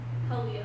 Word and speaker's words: Halia: Halia. Halia. Okay. It's almost like the Hebrew Hallel, which is, hallelujah.